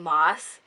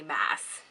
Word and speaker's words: Maas: by sarah j maas recently i've been corrected on how you pronounce her name and have to say i'm still really used to saying moss and it's really weird to say mass however that will not stop me from pronouncing it the correct way in essence this is